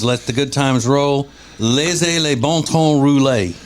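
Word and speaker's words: laissez les bons temps rouler: Laissez les bon temps rouler is how you say that.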